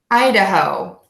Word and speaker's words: Idaho: on Hawaii we have Idaho we're gonna say I like your eye or when you're referring to yourself I duh really short schwa in there and then long Oh at the end ho Idaho Idaho Idaho Idaho